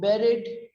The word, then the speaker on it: buried: and the past tense and the past participle of buried rhymes with ferret next it's a very